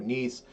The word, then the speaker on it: gneiss: But in either way, it could be a granite that has now been metamorphosed into a gneiss, but or gneiss rather, depending how you want to pronounce it.